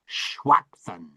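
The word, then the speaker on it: shwaqtani: Shwaqtan.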